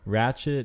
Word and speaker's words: ratchet: So, ratchet is it's a dialect, but it's a mispronunciation of the word wretched. Wretched. Wretched. Wretched. Yeah, wretched means like, you know, like kind of like a horrible person, like a nasty person. 汚いらしい人のこと。 Yeah, so it's like a mispronunciation, like wretched, and then went ratchet.